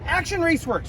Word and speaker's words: Action Raceworks: Let's just make sure I say it right. Action Raceworks, right? Correct. That's right.